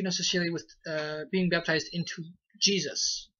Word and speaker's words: Gesù: But in Italian, his name is spelled G-E-S-U. And they pronounce his... they pronounce it as Jesu.